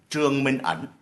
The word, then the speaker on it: Trương Minh Ẩn: First of all, the correct pronunciation of his name is Dr. Trương Minh Ẩn.